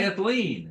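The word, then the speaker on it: Dyath-Leen: Diathleen. I know, I'm asking you to spell it.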